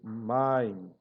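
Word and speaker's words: מים: Então, que no caso aqui a palavra águas, main, não é maim, mas é main.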